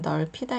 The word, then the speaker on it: 넓히다: 되겠습니다 자 그다음 글자는 넓히다 있니다 여기서는 다시 비읍 받침이 소리가 나지 않죠 그리고 리을 받지만 소리가 나서 넓히다 자 그런데 여기서 피읍 소리가